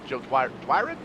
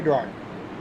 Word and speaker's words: Dwyer: Austin Belke, Joe Dwyron? Is that how you say his name? Yep, Joey Dwyer.